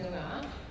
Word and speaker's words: Noongar: The word beginning with W there is pronounced Wajak, and the N word is pronounced Noongar.